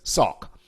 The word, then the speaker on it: SOCC: o c c principle it's just pronounced or i pronounce it as sock okay you're still with